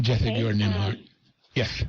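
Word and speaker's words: Nembhard: I read Collective Courage, and then I was like, wow, that is the book by Jessica Gordon Nimhard. That's how you pronounce it. Jessica Gordon Nimhard. Yes. Nimhard, yes.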